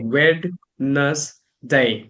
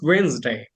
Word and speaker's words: Wednesday: I make it like wness day, right? So like but it is Wednesday like two syllables are there.